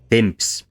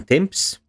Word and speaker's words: temps: p had disappeared and the p in temps in modern french is not pronounced it is there only